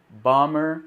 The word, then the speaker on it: bomber: breve aqui para você a palavra Bomber você não pronuncia esse B isso acontece também em palavras como thumbnail né em tom como no jogo Tomb Raider bom bommer Super Bomberman no jogo